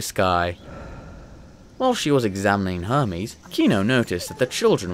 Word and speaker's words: Hermes: "His name is Hermes," Kino said. "Hermes? That's a funny name!" No, it's Hermes! Hermes! Not Hermes! It sounds weird when you say it like that.